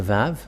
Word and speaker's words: Vav: So here is the letter Vav. The Vav. And this is the letter Vav. This is the Vav. The way to read this is V as in Vag.